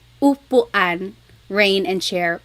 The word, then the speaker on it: upuan: And then letter U is an U sound. U. So ulan, upuan, rain and chair, u.